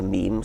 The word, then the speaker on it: meme: natural selection going so i called it a meme so it doesn't exactly rhyme with gene but it's sort of sort of short and and sounds vaguely similar and how did you